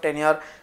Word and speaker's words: tenure: कोई स्टूडेंट्स इसको टेन्यूरे प्रोनाउंस कर रहे हैं। इट इज नॉट टेन्यूरे, इट इज टेन्योर।